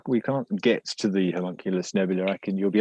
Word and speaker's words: homunculus: two stars um um the homonucleus i'm not sure if i'm pronouncing that right homunculus thank you man i just could not get it right there um the monkeyless uh